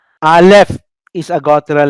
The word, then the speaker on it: Aleph: And we don't uh, have any pronunciation at all. That's why I said we do not know anymore how to pronounce Aleph. Maybe they have pronounced it, but the Masoretes rendered it nothing, no sound at all.